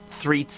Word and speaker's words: Threets: the special guest Threats. Uh again, I think I'm pronouncing that today. It's okay. Elena works. All right. Threats is correct as well.